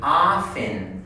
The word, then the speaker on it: often: Often.